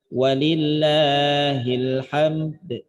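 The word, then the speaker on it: وَلِلَّهِ الْحَمْدُ: Isyarat bunyi dal, karena dal dia punya sifat qalqalah, maka cara bacanya juga qalqalah kan. Walillahil hamd.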